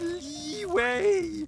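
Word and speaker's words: Liyue: ] up or what it's pronounced leeway we waste your time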